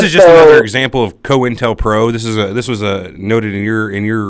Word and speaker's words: COINTELPRO: I pronounced it Cointel. Cointel, huh? It's Cointelpro.